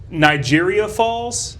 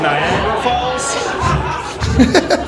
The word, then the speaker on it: Niagara Falls: I convinced a kid once that it was uh pronounced uh Nigeria Falls instead of Niagara Falls cuz that's fun.